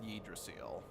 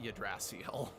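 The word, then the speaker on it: Yggdrasill: to be but yeah his name is supposed to be Lord yedra seal not yadracial but um whatever you've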